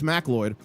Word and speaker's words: Macleod: MacLeod? It's MacLeod.